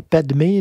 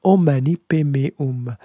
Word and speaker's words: Om Mani Padme Hum: prononcer comme ça, mais Padmé, là, c'est la princesse dans Star Wars. C'est pas la même chose. Ça se prononce Om Mani Padme Hum.